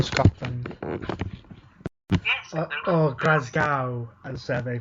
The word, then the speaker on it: Glasgow: Alexa Bliss will still get the Women's Championship match on November the 8th when SmackDown comes to us from Glasgow, Scotland. Yes. Or Glasgow, as they pronounce it that way.